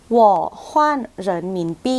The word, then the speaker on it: 我换人民币: จะ อ่าน ว่า ว ฮน เิน หมิ ปี้ หว่อ ฮน เหิน หมิ ปี้ อ่ะ วอ ตัว เดียว เลย จะ แปล ว่า